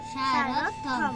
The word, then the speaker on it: সারথ্যম: তাই আমরা প্রথমটি বলবো সা রথ, আরেকটা বলবো কি? থম। সারথম, সারথম। কি বলবো? সারথ্যম, তাহলে এটা উচ্চারণ কি হবে? সারথম। আবার বলো। সারথ্যম।